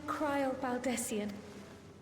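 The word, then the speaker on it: Krile Baldesion: I am Cryle Baldessian. So that's how it's pronounced all these years.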